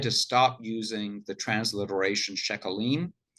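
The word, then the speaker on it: sheqalim: They decided to stop using the transliteration shekalim, which confuses Anglophones because we're not used to pronouncing a Q like a K. It's more of a French thing.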